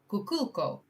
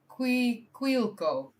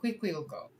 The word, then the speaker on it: Quiquilco: Alright, so pre-Hispanic and contemporary equinoctial alignments confirmed in Kukulco, or Kikilco. How? Look at me struggling today. How to pronounce whatever. Quiquilco. Okay, so Quiquilco.